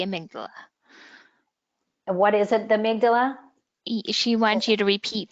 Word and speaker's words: amygdala: What is it, the amygdala? She wants you to repeat the information that you had mentioned about that. So phonetically, it's Amy G. Dala.